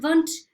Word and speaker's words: Wundt: It's pronounced Wundt because he was German, so W is a V sound.